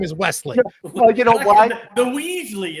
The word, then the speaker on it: Wesley: Welsley your Hey guys, how are you?